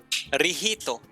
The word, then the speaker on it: Licht: How to pronounce? Rihito.